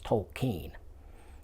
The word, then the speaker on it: Tolkien: off it's not Tolkien been saying token as long as I can remember it's not Tolkien it's Tolkien yeah that came straight from